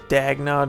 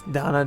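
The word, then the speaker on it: Dannagh: Dagna Desert, it's Dana Desert.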